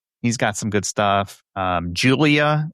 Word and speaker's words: JVLIAH: Julia, and it's spelled with V, so JVLIAH has some good stuff.